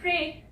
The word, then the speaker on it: pray: ये वर्ड है प्रे। प्र PR से आ गया, और ए साउंड आ गई ई लेटर से, प्रे। वाई की यहाँ पे कोई साउंड नहीं आ रही है, यहाँ पे वाई साइलेंट है।